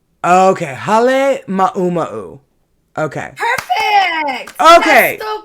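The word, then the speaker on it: Halemaʻumaʻu: Hale Ma'u Ma'u. Okay, Hale Ma'uma'u.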